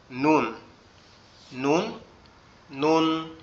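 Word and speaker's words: ن: নুন, নুন অক্ষরটা সম্পূর্ণ আমাদের জিহ্বার আগা উপরের তালুর সঙ্গে লাগবে। জিহ্বার আগা উপরের তালুর সঙ্গে লাগবে, লেগে উচ্চারিত হবে নুন। নুন, নুন, নুন।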